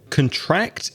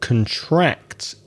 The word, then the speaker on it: contract: podcast has great content contract is another word that follows the same rule so contract is a verb which means to get smaller and a contract is an agreement usually